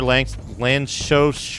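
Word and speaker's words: Lanczos: Adding area or lancos filtering. That's how you pronounce it. I've just discovered uh using area or lanchos filtering uh you're going to add some anti-aliasing.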